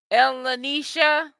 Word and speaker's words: Elisha: you it's it's um your name is pronounced Elisha was that how you pronounce your name sweetie yeah I heard about